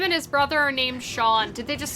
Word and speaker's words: Sean: You always thought the only people who pronounced it scene were small children who never learned better. Exactly. Because, like, I know somebody whose name is Sean, spelled S-E-A-N, which is, like, a very traditional Irish way.